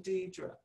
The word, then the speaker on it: Dedria: Her voice had a sing-song quality as it cut out the second vowel of my name to arrive at the correct pronunciation, Dedria.